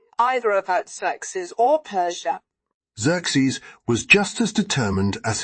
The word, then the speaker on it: Xerxes: had a son named Xerxes pronounced as if it began with a z when I was a